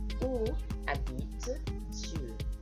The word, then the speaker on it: habites: So we don't pronounce the S's and the T's, etc. at the end of French words normally unless they're followed by an E.